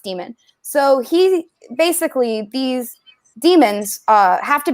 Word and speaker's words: Daemon: But when you become an adult, it solidifies into and it's called a demon, but it's Daemon. But Philip Pullman, who wrote it, says that it's pronounced demon.